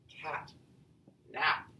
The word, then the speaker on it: catnap: If, however, we have the word cat, nap, now we have ourselves a 2-syllable word. A catnap is actually stressed on the first syllable and unstressed on the second syllable, all right?